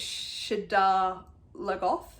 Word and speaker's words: Shadar Logoth: According to the pronunciation guide, it's Shadar Logoth. Shadar Logoth.